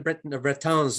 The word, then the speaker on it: Bretons: Yeah, not so much the Bretons, as that's the proper way to say it, or Britons or the Basque.